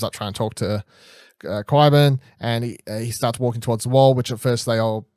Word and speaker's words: Qyburn: Qyburn, thank you. I was about to say, how do you pronounce it?